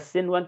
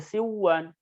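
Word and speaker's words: صنوان: Jadi dibaca sinwan, tidak dibaca siwan atau duya.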